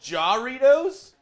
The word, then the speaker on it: Jarritos: I'm getting right now it's pronounced Jarritos I just I don't feel like that's right gitos it's like the one time I'm trying to do a silent J the right way I'm doing it wrong you know what I